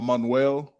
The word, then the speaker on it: Emmanuel: So you either say it the regular way, like Emmanuel, or you can say it like the Spanish way, or Manuel.